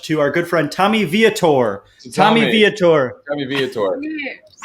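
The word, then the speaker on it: Vietor: toast okay what's the toast to tommy uh viator great you pronounced it correct uh probably trolling this episode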